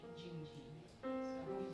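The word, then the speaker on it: Dindi: It's called Jingji. It's spelled D-I-N-D-I, but it's pronounced with a J, Jingji.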